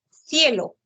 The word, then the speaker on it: cielo: gorda como la s Pero sabemos por Norma que cuando está frente a la vocal i e debe ser la fricativa interdental entonces la la pronunciación sería cielo Ya ese sonido lo